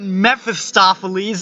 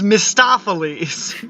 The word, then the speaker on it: Mistoffelees: Mistoffelees wait what it's not Memphis stafa Lee's its Mistoffelees I don't know anything about cats except for that character's name well all right mr.